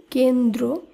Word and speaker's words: কেন্দ্র: এরপর যে নিয়মটি রয়েছে, যুক্ত ব্যঞ্জনের সঙ্গে র ফলা যুক্ত থাকলে তার উচ্চারণ কিন্তু একই হবে বা অপরিবর্তিত থাকবে। যেমন কেন্দ্র, এই শব্দটি শুদ্ধ উচ্চারণ কেন্দ্র এইভাবে করতে হবে, কারণ এই নিয়ম অনুসারে